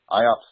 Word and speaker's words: IOPS: IOPS stands for Input-Output Operations Per Second, and it's pronounced IOPS.